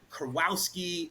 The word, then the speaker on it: Kurowski: ahead and bring on our next guest Matt Kowski don't hold me at the altar if I mispronounced it but Matt my man welcome to